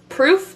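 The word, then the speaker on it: ColdPruf: pants this brand is cold prof proof but it's spelled p r u f so i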